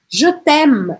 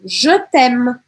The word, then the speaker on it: je t'aime: Porque eu praticamente não vou pronunciar esse E aqui.